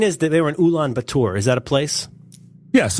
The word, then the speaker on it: Ulaanbaatar: I think you pronounced it a little bit Frencher than it is.